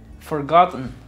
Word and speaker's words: forgotten: forget es forget forgot forgotten se elimina la e y solamente suena forgotten forgotten forgotten después tenemos